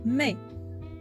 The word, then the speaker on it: mais: Mais, avec S à la fin, ولكنها لا تنطق الS à la fin.